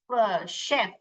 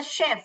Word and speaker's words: chef: यहाँ पे ये क्या कर रहा है? श का साउंड ले रहा है। क्या कर रहा है? शेफ, ही इज अ शेफ।